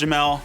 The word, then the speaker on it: Jamal: Yo, everybody, I'm Jamel, spelled Jamal, pronounced Jamel.